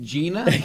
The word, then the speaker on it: GINA: And the when you'd open a door, it's pronounced Gina.